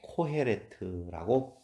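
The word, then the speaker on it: קֹהֶלֶת: 1장 1절 다윗의 아들 예루살렘 왕 전도자의 말씀이라 라고 할 때 그 전도자라고 하는 히브리어 단어가 코할렛이라고 하고 코헤레트라고 발음을 할 수 있거든요.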